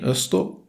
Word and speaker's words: Öster: The Ö in Öster is pronounced the same as in Öland, so roughly like the EA in early. And stir sounds similar to the word stir, so you basically just combine those.